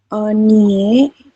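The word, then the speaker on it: 언니의: Onie. Iya, betul ya. Oni, Cing. ui-nya berubah menjadi e, teman-teman. Ya. Onie, seperti ini.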